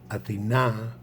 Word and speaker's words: Athena: poseidon is possible athena is pronounced athena very important the accent athena in greek means the city atina accent on the last a is the goddess so then we have